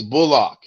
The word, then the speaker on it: Bullock: does your name pronounce is it bullock or bulldog how would you like to pronounce it he said i'm glad you asked me that it's bullock do you know do